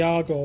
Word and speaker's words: Argo: The argo that's it didn't begin with an e.